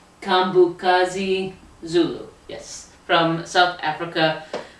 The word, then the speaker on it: KaMbokazi: KaMbokazi. KaMbokazi Zulu. Okay. Stop! I got it! I wanted to make sure I pronounced her name right, so I asked her